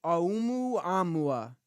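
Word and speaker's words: ʻOumuamua: Oumuamua.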